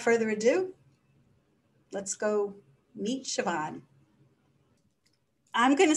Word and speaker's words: Siobhan: I'm going to let her introduce herself because I think it's pronounced Siobhan, even though it's a B.